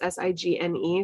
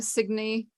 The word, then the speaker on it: Signe: think gaelic names and i never knew how to pronounce cygni because it was it's s-i-g-n-e so i always thought it was signe but cygni sounds cuter and then you can